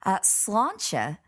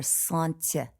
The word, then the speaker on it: sláinte: accent i think on on irish solanke is probably the most common pronunciation in ireland although you will hear Slainte can you hear the difference launcher launcher yes yes just very slight very slight now 1 i've also